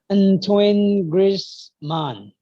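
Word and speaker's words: Antoine Griezmann: this one um oh antoine grace man grits man you know it happens like it's very in the nose kind of like ah like that all the language is very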